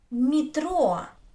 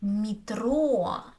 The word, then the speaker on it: метро: So it's Метро, метро. Is not stressed, so I say и. Метро.